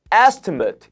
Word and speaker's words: estimate: 근데 명사일 땐 estimate 요렇게 발음이 됩니다. 그래서 강세가 앞쪽에 와서 뒤에 발음이 발음처럼 돼 버립니다.